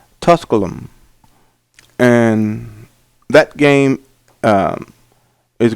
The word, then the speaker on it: Tusculum: st all hosts uh uh tusk apologize for mispronouncing this name tusculum and that game uh is going to be